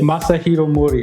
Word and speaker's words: Masahiro Mori: I'll be able to pronounce it properly Masahiro Mori. Okay. Okay. Well, so in Japan actually the last name comes first So it'd be Mori Masahiro Okay, Mori Masahiro.